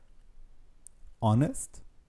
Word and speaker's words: honest: on dira an hour honest commence avec un H mais on ne le prononce pas et donc un honest